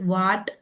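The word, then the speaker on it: what: Letter H is silent when it comes after W. तो डब्ल्यू के बाद आएगा तो वहां पर एच जो है वो साइलेंट होगा, लाइक वाट, वेर, वाई। ठीक है, तो व, आई, वाई, व, एर, वेर, व, आट, वॉट।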